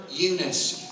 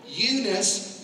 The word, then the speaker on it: Eunice: Eunice, spelled E-U-N-I-C-E. The N-I-C-E in Greek would phonetically be spelled out or sounded Nike.